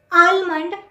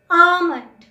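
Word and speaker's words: almond: Number 31 जो हम सब गलत बोलते हैं, आलमंड नहीं वर्ड होता, आमंड, L साइलेंट होता है, आमंड, आमंड।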